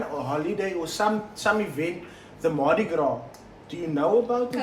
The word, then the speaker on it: Mardi Gras: Then how you pronounce it? It's Mardi Gras, yeah.